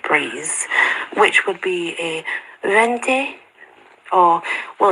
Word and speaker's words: venti: a venti, or, well, it depends how you pronounce your Latin. You see, back then, Latin was, it began to be pronounced in two ways. So it's V-E-N-T-I, but the old style Latin, you would not pronounce the V. It would be vente.